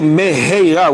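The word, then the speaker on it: מהרה: So you have to be very careful to say Meheira with a Hey.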